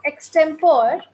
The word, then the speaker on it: extempore: written as extempore, but the correct pronunciation is Extempore.